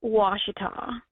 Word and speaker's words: Ouachita: in northern Louisiana, and I think that Ouachita city is pronounced Washita. So it's pretty weird. I don't think anyone would ever guess that, but they pronounced it Washita.